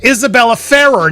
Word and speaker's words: Isabela Ferrer: I I I I look, I learned how to say this girl's name, Isabella Farah.